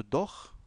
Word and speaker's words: doch: Alors le CH de doch ici se prononce comme le R du mot prémisse ou prendre. Hein. Ça s'appelle le CH guttural. Doch, comme le verbe machen.